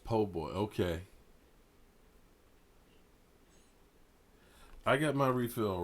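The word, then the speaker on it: po' boy: his refill right here it's pronounced po-boy okay I got my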